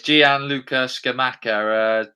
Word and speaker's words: Gianluca Scamacca: You can pronounce his name because I'm no good at pronunciations. Yeah, it's Gianluca Scamacca.